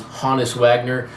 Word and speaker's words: Honus Wagner: and that's why you're like, he's saying his name wrong. I really believe Olbermann here says the name correctly, which is Honus Wagner.